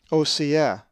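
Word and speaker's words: Ὡσηέ: The accent is over the epsilon, Osea.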